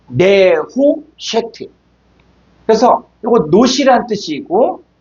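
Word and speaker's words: נְחֹשֶׁת: 자, 5178번은 네호셰트인데 요거는 느세트라고 했어요. 정확하게 발음하면 요게 네후쉐트.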